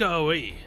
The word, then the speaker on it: Aoi: However, we instead find none other than Hokusai's daughter, Katsushika Aoi. Dang it. Hold on. Okay, well, in Japanese, apparently it's Aoi, but it's French for we.